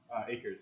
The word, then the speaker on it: Akers: How you pronounce it? Akers.